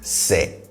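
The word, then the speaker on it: sɛ: f in g is se ah and notes these two points about the pronunciation of you know the two first the se is on the lower side in terms of tone all right so i'm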